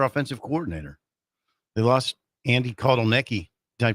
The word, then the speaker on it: Kotelnicki: They lost Andy Kotelnicki. Did I pronounce that right?